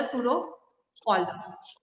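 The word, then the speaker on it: pseudocoelom: अगर कुछ काम है तो they can form a cavity like structure, that is called a सूडो कॉलम. P is silent over here.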